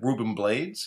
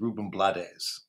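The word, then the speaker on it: Rubén Blades: So the next one is usually said Ruben Blades, but I think the actual pronunciation is Ruben Blades.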